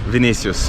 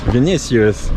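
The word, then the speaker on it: Vinícius: how do you say your name excuse me vinicius vinicius yeah so first triathlon you told me it's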